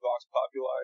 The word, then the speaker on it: vox populi: your debut offering was called what vox populi yeah uh so I pronounce it box popular it's um it's Latin for voice of the people it's just a potato